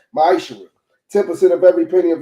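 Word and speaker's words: מעשר: Means tenth in Hebrew and is pronounced ma'ishra.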